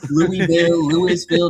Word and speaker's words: Louisville: Louisville. No, it's pronounced Louisville. You come to the city, you say it correctly.